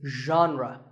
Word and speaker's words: genre: the correct pronunciation is genre pay attention to the first sound it's like sh but you have to put your voice into itre genre next up